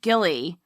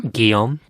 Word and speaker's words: Guillaume: Sadly, her son, Gilly, or how do you say this name? Guillaume.